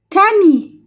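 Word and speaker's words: tamis: دي تامي تا مي الأس في الآخر ما تتنطقش في اللغة الفرنسية.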